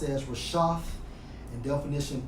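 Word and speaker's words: רֶשֶׁת: the brother's lesson, and it's Strong's H 7568, pronounced as Rashaf, and definition 3 of leaders leading people to sin.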